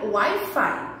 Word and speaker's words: Wi-Fi: Então, é escrita assim, mas a gente pronuncia Wi-Fi, tá bom?